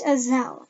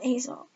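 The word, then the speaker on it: Aysel: Palmer my supervisor snaps mispronouncing my name is always it's as L not ezel but he doesn't care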